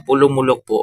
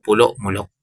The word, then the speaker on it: Polomolok: Pulom mulok po 'yung tamang pag-pronounce. Ayan hindi po pulo mulok yan. Minsan din ako magsasalita mga pulom mulok yan pulong-mulok po siya mga ka-yo.